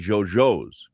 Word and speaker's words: yo-yo: has brought in the Jojo from Uruguay. These are technically yo-yos, but because of the Uruguayan pronunciation of the Y is a he has brought in these.